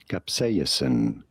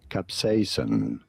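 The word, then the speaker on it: capsaicin: You do want to stress on the second syllable on the say syllable. Capsen. Capsayasen. Yeah. In American English, however, this is normally pronounced as capsain.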